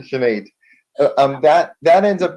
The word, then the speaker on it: Chanate: going up to um chinate I know I'm mispronouncing that my apologies sh chenet thank you thank you shenet um that that ends